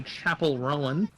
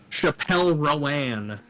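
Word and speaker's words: Chappell Roan: Currently climbing is Pink Pony Club at 11 by Chapel Rowan. Gotta mispronounce her name like some straight person, you know? Chappelle Rowan.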